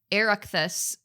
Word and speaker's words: Oireachtas: And that dancing competition, for you guys, if you want to look it up, is the U14 2023 Southern Region Oireachtas That's how you say it.